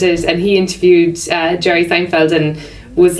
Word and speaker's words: Seinfeld: and he interviewed Jerry Seinfeld and was like couldn't pronounce his name right and this is like in theory you know yeah you said like I think he said like thin field right and it was